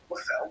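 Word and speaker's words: Liefeld: 30 years or so I always thought was it field or lefeld no I I lefeld of course I always thought it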